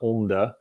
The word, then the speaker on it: LaMDA: So LaMDA is an acronym for Language Model for Development Applications, LMDA. And then they throw in the A just to make it pronounceable. So it's not LaMDA. That would be more Norwegian or Swedish, maybe.